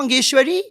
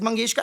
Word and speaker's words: Mangeshkar: But the other day I just pronounced Latam Mangeshkar's name as Latam Mageshwari and people have lost it. Why? It was an honest mistake. Like why would I purposely say lat Mangeshwari if it's Mangeska?